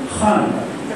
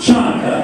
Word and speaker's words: Hanukkah: The letter CH, as in Hanukkah, is pronounced just that way, Hanukkah. It is not Chanukah, and it certainly isn't Hanukkah.